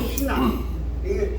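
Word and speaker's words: ἵνα: 왜 희나? 이나가 아니라 여기 이게 거꾸로 이렇게 붙어요. 희나. 이렇게 붙은 것은 H 발음 내는 거예요.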